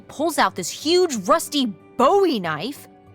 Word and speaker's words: Bowie: out this huge rusty Bowie knife. It's actually pronounced Bowie. What? No, it's like the last name, like David Bowie. Different last name. Bowie.